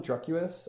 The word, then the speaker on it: Druqs: His album Druckus, I think that's how you pronounce it, Druqs.